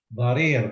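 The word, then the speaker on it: ضرير: Now this is a ra, of course, but you see there's a kasra, which means like you have to go e. Okay, and then there is a ya, which makes it a double vowel.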